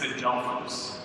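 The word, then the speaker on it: ἀδελφός: Now, when it says that the brothers of James and Joseph and Judas, that word brothers in Greek is Adelphos. It's spelled A-D-L-P-H-O-S, Adelphos.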